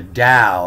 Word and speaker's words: Tao: day one saying to learn the Tao and/or the Dow is the is the the English pronunciation of Tao and that means to